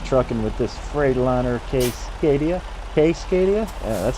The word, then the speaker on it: Cascadia: Casecadia.